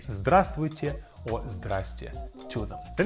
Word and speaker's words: здравствуйте: Our second word is здравствуйте.